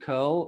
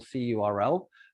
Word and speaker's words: curl: a sample one in curl or c url i don't mind which way you pronounce it but the correct way is curl and we're suggesting that